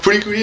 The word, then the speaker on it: FLCL: en tout cas, ben, vous l'écrivez comme vous voulez, tant que vous le prononcez comme tout le monde. Furikuri, dans le fond, c'est